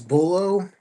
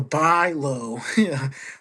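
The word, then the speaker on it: Bulow: Uh Bo is it it's spelled B U L O W which gets one to think do I pronounce it as bullo?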